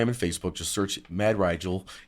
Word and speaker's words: Rygel: y g l uh pronounced like Nigel but Riel so I got I got to say it right myself on Instagram and Facebook just search mad rigel m a d r